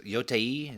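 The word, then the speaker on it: Yōtei: So Yotei is how you say it.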